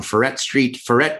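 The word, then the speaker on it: Freret: Orleans, it was on Ferret and Sognat. So that's like uptown. Yeah. Is that how people say it when they're drunk, or is that the real pronunciation? Yeah, that's how I say it.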